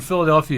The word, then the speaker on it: Philadelphia: If you're from Philadelphia, you can say it in 2 syllables.